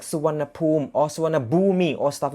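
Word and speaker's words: Suvarnabhumi: the last sound uh in thai pronunciation it should be pronounced like uh su wannapoom that is thai so one poem that is like hello snack car so rich swanna boom that is type pronunciation but then when you spell it in english word and then uh non-thai speakers will pronounce it like swannabumi because of the way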